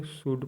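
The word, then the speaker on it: should: डी शुड मतलब चाहिए इसको बत लोग शुल्ड बोलते हैं इसको शुड पढ़ना है टी ए एल के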